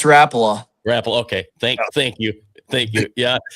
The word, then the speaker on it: Rapala: It's Rapala.